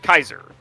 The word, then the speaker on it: Caesar: but it is pronounced Kaiser as that is actually how you would pronounce it in Latin Caesar is just how